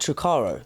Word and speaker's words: Turaco: How do you say it? Turaco. Blue Turaco. Blue Turaco. Yeah. Blue Turaco. Yeah, Blue Turaco, like Turaco.